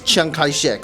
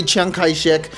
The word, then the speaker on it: Chiang Kai-shek: The reason for this is actually quite simple. It's just that the Cantonese version of this guy's name is Chiang Kai-shek, right? So the Cantonese of Jiang Jieshi is apparently Chiang Kai-shek, and I'm not gonna